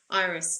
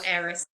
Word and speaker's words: Eris: wobble, the Pluto squares Iris, doesn't it? Or Yes, Eris, however you like to pronounce it.